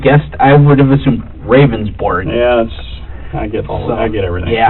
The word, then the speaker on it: Ravnsborg: Ravnsborg. Okay. But it's pronounced rounds, like a round circle. Okay. Berg, like an iceberg. It's Danish.